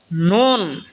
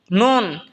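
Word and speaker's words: نون: বা যেখান থেকে উচ্চারণ হয়েছে সেখান থেকে মিমও উচ্চারণ হবে। এরপর হল নুন। নুন যেহবার আগা তার বরাবর উপরে তালের সঙ্গে লাগে উচ্চারণ হবে নুন।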